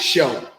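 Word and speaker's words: shew: right awesome yeah that's the old quaker english word for show so whenever you see that you just pronounce it show because that's what the word is spelling right so they they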